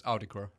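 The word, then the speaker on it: Autechre: I think it's Auticry. Auticry. Okay, Auticry, yeah.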